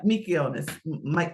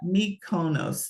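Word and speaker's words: Mykonos: these three popular places uh mikonis I always have a hard time Miko micus I always have a hard time like I need a phonetic pronunciation of that mikonis I think it is and I don't think I'm pronouncing that right but those are the three top places to go but what if you did the flip side of that mikonos thank you Maria M me Mos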